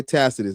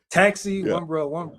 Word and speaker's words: Tacitus: Your boy Tacitus, man. Talk to us about Tacitus. They love some Tacitus. Man, they love some tactician, Tacitus. They call him everything but his name. Taxi, one dude called him Taxi.